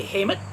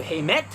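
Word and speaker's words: Heimat: a little funny like i might say hamet instead of heimet or instead of heimet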